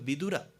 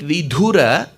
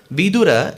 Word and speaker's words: Vidura: with his brother called vidura so you have to be very careful while you pronounce words if you stress on the da making it vidhura the meaning will change because in samskritam vidura